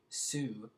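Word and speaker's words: syv: Su um which is different from syy V Sue which is the number seven so I probably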